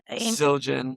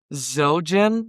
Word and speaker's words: Zildjian: Zildjian.